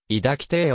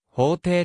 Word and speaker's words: 抱亭: 女好きな性格から抱きてぇをかけた規定と読みまたその女好きが高じて北斎の妻に手を出し破門されたなどと言われているが抱え体とは別号方体の耳を変えたもので法廷と読むべきであり女好き